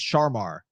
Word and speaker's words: Charmar: Um the NDSU transfer or Yeah, cuz it's spelled Charmar, which we always thought was like a Pokemon situation. Does he have a Charmander? Exactly. You pronounced it right though. It's Charmar.